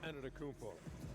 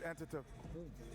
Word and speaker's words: Antetokounmpo: And Shaq, you bestowed your Superman nickname on Giannis Antetokounmpo.